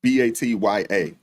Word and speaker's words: Batya: It's B-A-T-Y-A, Batya. Ungar Sargon, I believe that's how you pronounce her last name.